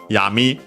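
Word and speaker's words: 闇: And then we have yami, accent on the last mora, which means darkness.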